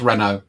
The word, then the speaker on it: Renault: the french group renault renault yeah is that how you say it renault very hot it's like target what were you saying giraffe it's reno that's like when we